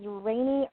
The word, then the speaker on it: Raine: Her first name is spelled Raine, but I know that's pronounced Raine because she says it on her LinkedIn profile.